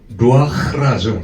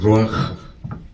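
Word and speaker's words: רוח: 흐와 크의 중간 발음이에요.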